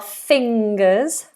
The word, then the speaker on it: fingers: we obviously have our fingers fingers lots of people have trouble with this NG sound back of the tongue high and this is a nasal sound fingers fingers fingers um but each finger